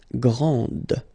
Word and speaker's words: grande: Okay, so grand, and then the feminine form, grande. Okay, so you put this and then you get the sound D, grande.